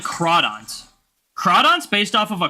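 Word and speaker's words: Crawdaunt: Like Crawdont. Crawdont's based off of a crayfish. Do you want to know how they spell crayfish? C-R-A-W. Begs the question. Is Crawdont actually supposed to be pronounced Cradont?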